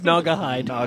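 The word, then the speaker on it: Gnawgahyde: It's Nagahide. That's Nagahide. Whatever.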